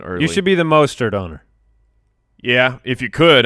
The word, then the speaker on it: Mostert: And for those who don't know, the Colonel, of course, is Raheem Mostert. Mostert. Yes, Mostert. Colonel Mustard. Colonel Mustard. That's why you say Colonel Mustard. That's a pronunciation benefit.